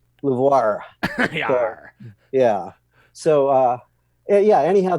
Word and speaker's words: LUVOIR: you say this new lir it looks like a French name and our joke is say it like a pirate lir yeah so uh yeah